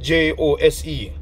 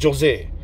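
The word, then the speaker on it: José: Like if you go to any Spanish country, you will see the word Jose, that's spelled J-O-S-E. The J is silent. Some people pronounce it Jose, but it's Jose.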